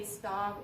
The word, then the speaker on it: Stav: Some people say Stav and some people say stave. So my pronunciation of it is Stav.